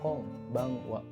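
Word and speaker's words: こんばんは: Selamat malam itu pengucapannya konbanwa. Konbanwa. Jadi ada eng gitu. Enggak konbanwa. Biasanya orang Jepang itu mengucapkannya konbanwa. Lafalan n itu dia jadi eng.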